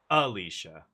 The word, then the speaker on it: Alicia: Not the emphasis on the middle syllable, but on the first one. Alicia.